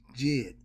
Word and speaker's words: Djed: Okay, the D, like the Django. People say the Django. No, it's just Django, but it's spelled with a D. I ain't trying to mock nobody, but yes, the D is silent.